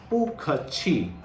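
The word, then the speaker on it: bù kèqi: Okay, you will have to say pu khe chi, pu khe chi.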